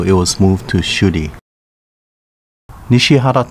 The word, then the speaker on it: Nishihara: Nishihara Town, pronounced Nishibaru in Uchinaguchi, is where the Prefectural University Diudai is located.